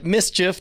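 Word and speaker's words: MSCHF: something to pronounce yeah mischief that's M s CH F internet studios has published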